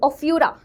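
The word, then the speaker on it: Ophiura: तो यहां पर ये सारे आपके सॉरी ओफ्यूरा है ना? ओफाइरा बोल दिया मैंने। ओफ्यूरा।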